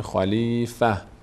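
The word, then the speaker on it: خليفة: حذف میشه چی میشه خلیفه خلیفه خلیفه خلیفه اگر ما اینجا وقف کنیم میشه خلیفه نه این دو نقطه خونده میشه و نه این تنوین خب تا اینجا از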